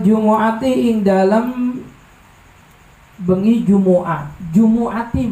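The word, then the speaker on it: جُمُعَةِ: Jumu'ati bacanya jangan Jum'ati, Jumu'ati.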